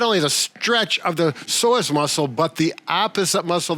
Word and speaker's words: psoas: We need to talk about the pronunciation of the psoas muscle.